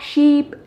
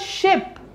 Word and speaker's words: sheep: it must be black sheep and one more thing this is not ship it is sheep it is a long vowel here this is ship and